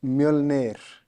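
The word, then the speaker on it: Mjölnir: I still don't know how to pronounce the gym name. Mjolnir. I'm not going to try it. Munich. Sounds like Munich. Yeah, it's Mjolnir.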